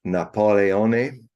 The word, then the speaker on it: Napoleone: So Napoleone was his Corsican pronunciation of his name.